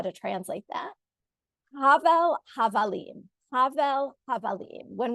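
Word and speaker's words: הבל: When we say the word in singular and it's not at the end of a sentence, we say havel. It's sort of very hard. It's hard for me to always remember how to say it correctly, but hevel, I'll translate in a moment, or havel, havalim is a refrain repeated throughout.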